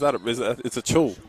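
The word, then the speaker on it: Acuil: I just say a cool, but it's a chul.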